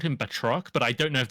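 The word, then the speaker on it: Batroc: uh he's French villain theory has the right pronunciation can you say it one more time for me uh betro betrock okay that sounds way cooler than bat rockat Rock the Batman spinoff yeah right he's a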